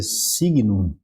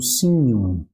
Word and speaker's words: signum: Esse encontro consonantal, ele vai ter um som de NH. Tá? Então, em vez de ser signum, vai ser um signum, tá bom? Signum, ok? Então, signum é a primeira palavra nossa ali.